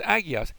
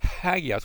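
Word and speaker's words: ἅγιος: That's not really, but that word hagios. It's not just agios. It's hagios with an H sound in front of it because of that first mark that's over the alpha.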